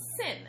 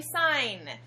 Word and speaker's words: sin: you that word is sin but in math class that word is actually sign and you're supposed to pronounce it like sign So when you say